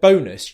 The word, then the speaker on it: bonus: And what you want to make sure is that when you're saying the word bonus, you're using the O diphthong.